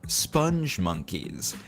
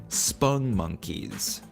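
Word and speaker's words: Spongmonkeys: important to note that spong monkeys are not pronounced sponge monkeys, as they are often mistakenly called by folks, myself included, until I made this video. They are called spung monkeys.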